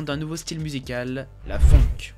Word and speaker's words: phonk: À présent, parlons d'un nouveau style musical, la funk. Prononcé funk et non funk, malgré leur consonance, ces deux termes désignent des styles totalement différents.